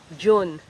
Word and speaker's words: dyun: The opposite of Janay is June. I used to spell it with a J, like June, the month of June. But actually, it's the slurred form of DYUN.